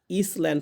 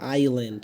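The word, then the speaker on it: island: এটা হয়তোবা ইসল্যান্ড পড়। কিন্তু আইল্যান্ড। এখানে এই দন্তস এর হচ্ছে এস এর উচ্চারণটা হবে না।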